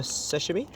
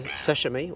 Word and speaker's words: sashimi: Well, you're the one that got me into the sashimi, or sashimi, how I say it, but sashimi's the right way to say it, yeah?